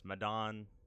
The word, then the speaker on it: Medan: madon or man of meden however you would like to pronounce it i don't know how to pronounce it correctly i've looked it up it's madon like it's a capital